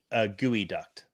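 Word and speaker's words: geoduck: And sorry, it's gooey duct. That's the correct pronunciation on that first one.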